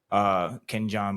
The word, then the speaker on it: Kenyon: Kenyon Barner, Ken John Barner, if you want to pronounce it correctly.